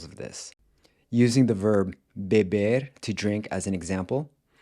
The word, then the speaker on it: bebe: But then it changes to an open E in the next two forms, bebe, Ele fuma, ele bebe.